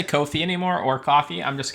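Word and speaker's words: Ko-fi: The answer is Kofi. Rhymes with no fee. Oh my god. Are you Are you So it is Kofi.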